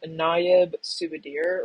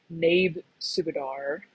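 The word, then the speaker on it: Naib Subedar: his last name um this is naab subir or subar however you pronounce it um or if you want to do the correct correct pronunciation naab subar we are not going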